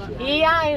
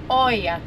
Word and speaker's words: Oia: Because in Greek language we have 5 different ways to pronounce the letter E. Difficult. So O. I and A, the OY pronounces E, and the right one is IA, not OIA.